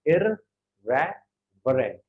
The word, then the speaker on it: irreverent: अब जैसे देखो इररेवरेंट, इसकी प्रोनाउंसिएशन है कि इररेवरेंट.